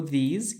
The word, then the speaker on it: these: O these, que é quase parecido à pronúncia, temos aqui o this, como um S bem mais presente, enquanto que o these parece ter um Z no finalzinho.